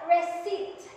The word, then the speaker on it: receipt: Then we have receipt.